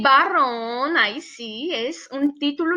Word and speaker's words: varón: tenemos aquí la palabra barrón y aquí la palabra varón perciben como la pronunciación es igual pensar en cómo pronuncia igual barrón con la ub y varón con la b no experencia pronunciada barrón